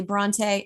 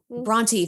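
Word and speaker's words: Brontë: Of course, we've got Emily Bronte. Is it Bronte or Bront? Bronte.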